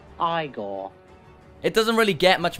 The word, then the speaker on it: Igor: A baby eagle to burn itself on the stove while older brother is cooking a stir fry. No, it's pronounced Igor.